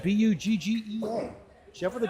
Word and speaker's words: Buggea: Pronounced Buggea, Buggea.